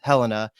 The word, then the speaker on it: Helena: Geez, I can never get that name right because it looks like it's pronounced Helena, but it's Helena.